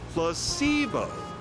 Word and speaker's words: placebo: today repeat after me placeo the stress is on the middle syllable very good you're figing